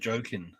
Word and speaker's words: Joakim: Yeah, because there's actually a basketball player named Joakim Noah, and he pronounced it Jokin.